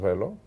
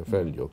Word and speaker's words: Velho: There's our friend Victor's Don Paio Velo. Turns out that Don Paio Velho, I think it's pronounced. Velho. Yeah, Velho, because the H in Portuguese becomes like a double L in Spanish.